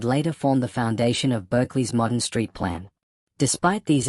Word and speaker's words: Berkeley: Although the philosophers's name was traditionally pronounced Barkley, the Americanized pronunciation Berkeley became standard for the city.